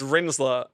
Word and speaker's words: Rinzler: Because I think I was calling it Rizler, like the Rolly papers. Ah, right. Yeah, you were. But it's Rinzler, which I stole that from Tron Legacy, so that was cool.